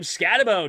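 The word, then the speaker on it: Skattebo: It's 10, but everybody says Scataboo. I'm calling him Scatabo. He ain't Scataboo. Add an extra O or a U at the end of your name if you want Boo.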